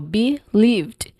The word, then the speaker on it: believed: So be lived. Um you stress on the second syllable lived.